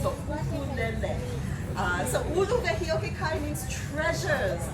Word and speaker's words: ukulele: But the U is always pronounced U, and the E is always pronounced S. So ukulele.